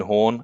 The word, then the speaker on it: Horne: my name is horn again the E is silent at the end of horn and the book is